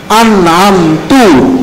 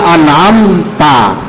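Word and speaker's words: أنعمتَ: merubah makna dari Alfatihah misalnya dia membaca anamtu harusnya anamta dia diubah jadi anamtu anamta artinya engkau telah memberikan nikmat tapi Anam adalah aku memberi nikmat berarti sudah diubah si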